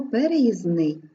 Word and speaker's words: переїзний: правило в рядку геє слово переїзний відбувається у цьому слові спрощення звук д не чується не пишеться слово нам не